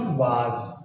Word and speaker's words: was: And this is नॉट वाज, this is वॉज। इसे वाज मत बोलिएगा, इसे प्रोनाउंस करिएगा वॉज।